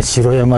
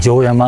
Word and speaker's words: 城山: あるんですよ白山公園と書いて城山これも最初ね白山って言ったら地元の人に地元出身の人に城山って言われちゃいました長野難しい野の